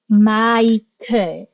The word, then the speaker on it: Michael: But in Korea, they reference US pronunciation of names.